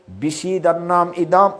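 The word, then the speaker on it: বিষীদন্নিদম্: এখানে অনেকে উচ্চারণটা ভুল করে, এই শব্দটা বিষিদন্নম, এখানে দুইটার কনফিউশন আছে। বিষিদন নয় ইদম, বিষিদন্নম ইদম, এখানে একটা দো আছে।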